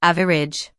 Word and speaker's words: average: This word often trips people up because some learners try to stretch it out unnecessarily. The correct pronunciation is simple, with just 2 parts, average.